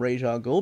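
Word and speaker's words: Ra's al Ghul: ghoul and of course I have to call him Raja goal because that's what he called himself in the cartoon I know everybody pronounces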